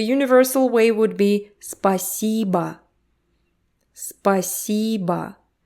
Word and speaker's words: спасибо: Make sure you don't forget about the vowel reduction. The last O actually sounds like Спасибо. Спасибо. E is stressed. Спасибо. So the first and last syllable are almost unheard. Спасибо. Спасибо. You kind of swallow them.